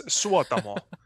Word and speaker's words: Suotamo: it but it's so difficult i mean it's suwatamo but it's so yeah that's true in finnish every name is pronounced as it's spelled every time the same